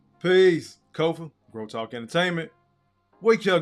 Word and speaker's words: Kofa: Once again, I'm your humble host, Kofa, K-O-F-A, not coffee, not kufu, not Kofi, or any variation thereof. Kofa rhymes with sofa, easy to say, easy to spell, aka your favorite YouTuber's favorite YouTuber.